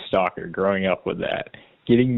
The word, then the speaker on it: Stalker: Um, there's a Kentucky House of Representatives member named Sarah Margaret Stalker and it's spelled like stalker as in stalking people not as in shelves.